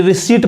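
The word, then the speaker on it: receipt: और यहां पे भी पी क्या है लेंट है पी नहीं पढ़ाए यानी रिसीप्ट पढ़ाए रिसीप्ट जैसे कहेंगे गलत हो जाएगा तो यहां देखिए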